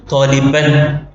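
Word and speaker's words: طالبًا: അങ്ങനെ ഫതഹ് തൻവീനിൽ ഒരു ഇസ്മിന്റെ അവസാനത്തിൽ വരുമ്പോൾ അതിന് ശേഷം ബൻ എന്ന് പറയുമ്പോൾ ഒരു അലിഫ് കൂടി എക്സ്ട്രാ ആയിട്ട് ഉച്ചാരണത്തിൽ വരാത്ത ഒരു അലിഫ് അവിടെ എഴുതും. എഴുത്ത് ലിപിയിൽ മാത്രം, ഉച്ചാരണത്തിൽ അത് ഉണ്ടാവുകയില്ല.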